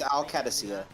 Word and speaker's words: Qadsiah: Is that how you say it? It's Qadsiah.